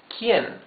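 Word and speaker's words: quién: what here it says quien quien quien means who you can see that the U is muted you don't read this quick you read this K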